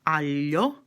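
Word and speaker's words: aglio: can you hear the difference between Allah and alia Alia which means garlic is spelt agli o the same thing for the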